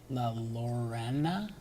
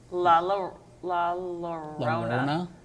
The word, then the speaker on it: La Llorona: So Jewel says, how do you say that word? La Lorena? La Llorona.